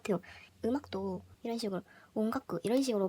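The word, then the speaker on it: 音楽: 음악도 이런 식으로 온가쿠 이런 식으로 발음을 하면은 더 일본어스러운 발음이 된다.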